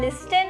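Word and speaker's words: listen: रही हो क्यों वो लिसन नहीं लिसन लिखा है लिसन हां कैसे इंग्लिश में कुछ वर्ड्स होते हैं जिसमें लेटर साइलेंट होते हैं और इसमें टी साइलेंट है।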